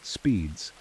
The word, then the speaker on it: SPDZ: The SPDZ protocol pronounced speeds and developed by Ivan